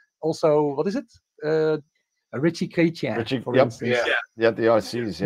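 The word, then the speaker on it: Ritchey-Chrétien: A Ritchie Chrétien, for instance. Yeah, the RCs. But how do you pronounce it actually?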